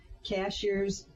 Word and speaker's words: Cashiers: it'll probably pop up cashiers is the name of a town here in North Carolina but it's spelled like a cashier at the grocery store um under editor